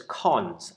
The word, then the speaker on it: cons: And the basic operator is colon, which we pronounce as cons. And it's cons because it constructs a list by adding one new element onto the start of a list.